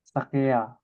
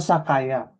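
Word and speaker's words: 酒屋: Karena dibacanya Oh, menjadi sakaya. Nah, makanya ada sebutan izakaya. Jadi zakayanya itu dari sakaya ini. Ya. Jadi kalau toko sake, dia bukan sake ya, tapi sakaya.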